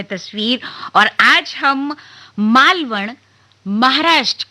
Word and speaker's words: मालवण: आपको बता देते हैं बहुत सारी जगहों पर इसको आप मालवण की जगह माल वन लिखा हुआ देखें लेकिन इसका चूंकि यह संस्कृत शब्दों का सम्मिश्रण है इसलिए इसका जो उच्चारण है वह है माल वण अना लगता है और आगे अगर